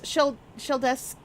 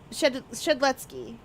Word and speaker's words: Shedletsky: There's Sheldesky. The creator of the game. Shedletsky. Yeah.